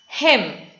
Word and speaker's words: hymn: So N is silent. Similarly for hymn.